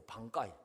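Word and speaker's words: 挽回: 반가이. 반가이 한문으로 읽으면 만회입니다. 만회. 그 만회라는 한자를 써놓고 일본 사람들이 반가이라고 읽거든요.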